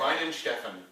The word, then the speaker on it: Weihenstephaner: How do you pronounce it, David? Because it's definitely a fun German name to say. Weihenstephaner. Oh yeah, Weihenstephaner.